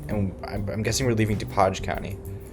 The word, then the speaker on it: DuPage: I'm guessing we're leaving DuPage County. Or DuPage County. DuPage is the French pronunciation. I wouldn't be surprised if it's DuPage County, because apparently you can't say French stuff in French.